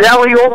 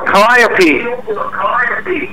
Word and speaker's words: calliope: Yeah, in the circus world, it's either a calliope or a calliope. A calliope? It's spelled the same.